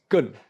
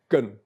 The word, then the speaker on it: 艮: And this is Gen. Gen, pronounced in the 4th tone, symbolizes mountain.